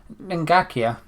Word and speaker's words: Ngakia: How do you pronounce the right back's name? Ngakia.